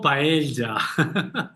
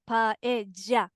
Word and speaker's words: paella: yo siempre les digo, sobre todo cuando está en el centro de palabra, cuando está entre dos vocales, Ujú, por ejemplo, en el caso de paella, ujú, pollo.